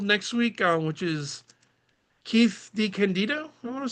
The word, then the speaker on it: DeCandido: We do have a guest scheduled next week, which is Keith DeCandido, I want to say. DeCandido Yeah, DeCandido. is how he Uh, pronounces it.